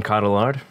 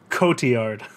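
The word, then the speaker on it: Cotillard: supporting actress uh first up we've got marion caudillard for annette i knew i should have put a pronunciation guide for that one category coty yard oh i am just a piece of [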